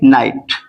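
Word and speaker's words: knight: क्या है साइलेंट है क्योंकि वो किससे पहले आया है एन से पहले ठीक है एन से पहले आएगा वहां पर क्या होगा साइलेंट होगा और भी वर्ड देख लीजिए आप के एन आई जी एच टी ठीक है इसको हम क्या पढ़ेंगे नाइट नाइट मींस क्या होता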